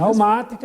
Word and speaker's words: Dalmática: Dalmática, está certo a pronúncia? É isso Dalmática, exatamente.